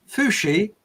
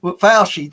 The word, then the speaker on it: Fauci: Now it says here, right, Fushi, if I got his name, I can never pronounce his name. But Fauci, that's it.